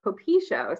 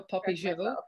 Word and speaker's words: Popisho: The right pronunciation of things, eh? Exactly. Well, I've been in my head, I've been saying Popisho. So now I have to yes, of course. No, Popisho.